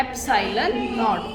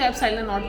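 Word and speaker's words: epsilon naught: जो जीरो है इट is pronounced as नॉट, और ये जो सिंबल है दिस इज एप्सिलॉन। तो हम इस कांस्टेंट को क्या बोलते हैं, एप्सिलॉन नॉट, EPSILON, एप्सिलॉन नॉट। इसको लिखना नहीं है एप्सिलॉन नॉट, प्रोनाउंस इसको एप्सिलॉन नॉट करना है।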